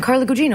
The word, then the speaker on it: Carla Gugino: And I was like, no, Carla, it's Italian, Carla Gugino.